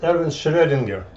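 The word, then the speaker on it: Erwin Schrödinger: other guy was uh geron geiger aaron ah oops this pronounces er so it's erwin schredinger another german guy who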